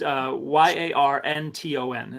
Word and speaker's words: Yarnton: And so wait, Yarnton, is this like Yarn Town or like Yarnton? It probably derived from Yarn Town, but it's Yarnton is how it's spelled. Yeah, Yarnton.